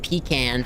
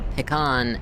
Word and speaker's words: pecan: The only thing I see is if you're a white southerner, there's two ways to pronounce it. Pecan for hillbillies or picon if you're trying to sound upper class.